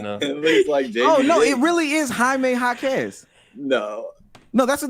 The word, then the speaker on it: Jaime: no Jade there's no J in there's no J in Spanish hold on we got somebody who might be able to help us uh no that's that's that's Jamie Jakes bro how do